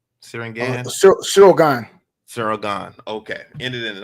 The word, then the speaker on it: Ciryl Gane: Ciryl Gane? Ciryl Gane.